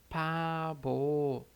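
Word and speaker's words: 바보: A gente vai dizer pabo, pabo, pabo. Então, veja que a gente tem aqui o P ou o B, né? Como ele está no início aqui na primeira sílaba, tem o som de P.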